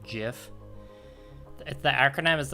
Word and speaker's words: GIF: Yeah, Taz is like, is it GIF or GIF? It's GIF, by the way.